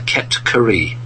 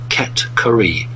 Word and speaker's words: Ket-Kari: So the actual proper name for these people is the Ket-Kari. I'll say it again, Ket-Kari.